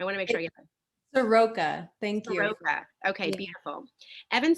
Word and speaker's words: Evan Soroka: last name i want to make sure you soroka thank you okay beautiful evan soroka is the